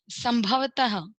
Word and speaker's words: संभवतः: Number 13, संभवतः। संभवतः त के बाद में देखिए विसर्ग है, इसको ह के अंदर उच्चारण करते हैं।